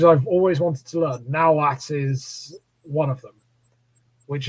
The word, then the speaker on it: Nahuatl: It's spelt with that at the end, but it's pronounced Nahuatl, not Nahuatl.